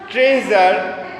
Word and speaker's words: treasure: এখানে যেটা শেখাচ্ছে, এখানে ট্রেজার, মিজার, লেজার সবগুলোতেই এস আছে, কিন্তু উচ্চারণটা হচ্ছে জেড এর।